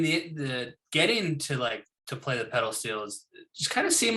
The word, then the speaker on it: pedal steel: I was so fascinated with your steel pedal guitar. Am I saying it correct? Yeah, pedal steel.